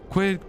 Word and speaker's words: Quidd: That rhymes with squid. Oh, treas treasures the veil. So, this is the last thing. Quidd killed several villages when he jokingly explode water.